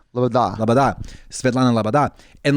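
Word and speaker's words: Loboda: Like every it's like lo bo da if you were trying to spell it to somebody, but if you're saying it's Labada. Labada.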